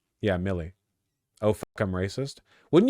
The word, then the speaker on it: Milei: I know Millet is pronounced like heavier Millet. I know that's Millet. Millie? Well, no, it's... Yeah, Millie.